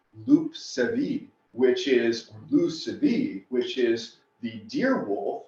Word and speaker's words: loup-cervier: Now, it turns out Lucifer, derived from Lucifer, is actually just a mispronunciation of the French word loup-cervier, which is the deer